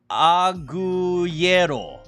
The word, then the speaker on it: agujero: Agujero.